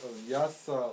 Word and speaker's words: Vyasa: Why you put vyasa like vy? Vyasa. Why didn't you put vam and not vyam? Because in his name, that vya is one syllable. It's one akshara. It's not vaya. It's vya.